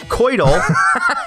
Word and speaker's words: coital: Coitus, but then for coital, it's pronounced coital, and coitally, the adverb, is pronounced coitally.